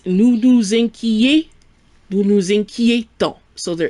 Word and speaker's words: nous nous inquiétons: On the other hand, if I want to say we worry with nous, it's nous nous inquiétons. Nous nous inquiétons. So there is a pronunciation difference.